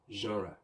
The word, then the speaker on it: genre: on your screen until now but the correct pronunciation is jorah let's say it together genre okay now let's talk about the word favorite